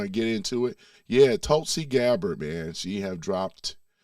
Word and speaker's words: Tulsi: Yeah, Tulsi. Yeah, that's how you pronounce it.